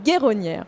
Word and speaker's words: Guéronnière: Vous allez voir des experts, notamment Karine de la Guéronnière. C'est comme ça que ça se prononce, Guéronnière, pardon.